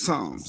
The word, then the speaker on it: Psalms: The P is silent. It's Psalms.